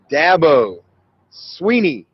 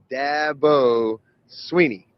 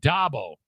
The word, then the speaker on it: Dabo Swinney: the record how do you say your name dabo sweeney dabo sweeney it's not dabo or i'd always said dabble so i didn't even know it was dabo